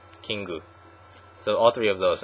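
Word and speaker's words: キング: king and queen um this one is pronounced kingu kingu so all three of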